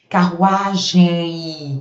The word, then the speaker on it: carruagem: No final, o am, eles puxam um izinho semivogal no final. Carruagem I, tá vendo, ó?